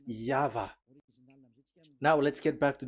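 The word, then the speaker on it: YHVH: Pronunciation is equal V. It is V. Y H V H. So it is YAHVAH.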